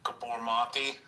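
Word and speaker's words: Gabor Maté: So is there some connection or so like if you listen to like I think his name is pronounced like Gabbor mati.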